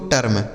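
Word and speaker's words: term: firm ठीक है तो अगर इ के साथ आर लिखा हो तो उस इ का उच्चारण हमें अ कर देना है जैसे हर्ब जर्म वर्ब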